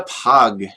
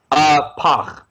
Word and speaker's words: Pagh: All right, so moving on to the Pagh. Pagh. Am I pronouncing it right? Who knows how to speak Klingon? Pagh. Pagh? Ugh. Rhymes with gach. Gach.